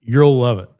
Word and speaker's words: URLLove.It: It's pronounced the way you want it to be pronounced. It's You'll Love It.